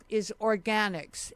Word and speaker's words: Organixx: And the company's name is Organics, and that's spelled ORGANIXX, 2 X's. And Jonathan, why don't you give